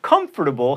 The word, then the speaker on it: comfortable: Comfortable has 4 syllables, and it's larvae or larvae, not larvae.